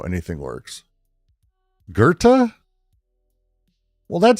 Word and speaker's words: Goethe: Why is there no R in? It's pronounced Goethe.